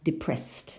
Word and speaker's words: depressed: And depressed. No? So these unvoiced sounds, no, like s, k, no, sh. When we add ed, the ed is pronounced t. No? Depressed.